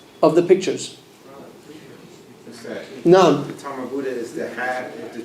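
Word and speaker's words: تاء مربوطة: The tamarbuta is a ha that has two dots on top of it. That's a tamarbuta. You say, and when you stop on the Tamarbuta, it's pronounced as Ha.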